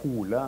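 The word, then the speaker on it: Hole: it was also uh the name H or hula as it's pronounced in thean that was the uh uh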